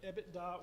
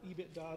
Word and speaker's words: EBITDA: So yeah, EBITDA or EBITDA, depending on how you pronounce it, is earnings before debt, interest, taxes, and something else.